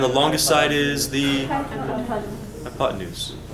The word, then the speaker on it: hypotenuse: have no papes hyot and hypotenuse looks like hypotenuse like the pots in use but no really what's happening there the hypotenuse is how you say that word hypotenuse is defined